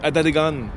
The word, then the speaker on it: Atateken: Je suis sur la rue Notre-Dame, au tout début de ce qui est la rue Adadegan. Ben oui, je vais vous dire pourquoi ça se prononce comme ça un peu plus tard.